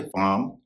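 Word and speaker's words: palm: जैसे पाम काम बाम। इन तीनों शब्दों में एल के बाद एम है और इनमें एल का उच्चारण नहीं होता है।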